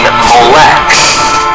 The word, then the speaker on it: Molech: The vowels added by the medieval Jewish scribes known as the Masoretes produced the pronunciation Molech, while the spelling Moloch comes from the Greek Septuagint and Latin Vulgate translations.